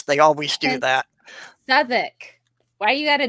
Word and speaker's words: Southwark: Well, you know that if it's from the UK, there's a couple of letters in there that you're not supposed to pronounce. They always do And- that. Southwark.